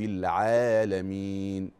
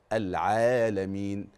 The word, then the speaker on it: العالمين: العين العالمين العالمين طيب وهنا لازم اقول ملحوظه بعض او البعض الذي يقرا يقول ايه الحمد لله رب العالمين كده زود المد الطبيعي عن حدوده زود عن حركتين دي ما ينفعش دي خطا صريح وواضح وجلي وايضا التقصير في المد